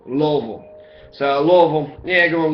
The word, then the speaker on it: Louisville: and in exchange for that kindness, he got to get the name of Louisville named after him, okay?